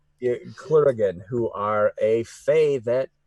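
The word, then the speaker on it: clurichaun: gonna say it wrong it's not Kuragin as in Highlander it's clear again like CL clear again who are a Fae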